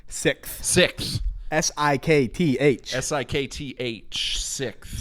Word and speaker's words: SikTh: just dive right into it how do you pronounce the name sixth six s-i-k-t-h s-i-k-t-h sixth sixth um this album let me set the scene